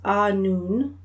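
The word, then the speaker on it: Annwn: Um, and it's pronounced a noon. Okay, anon in the realm of fairies.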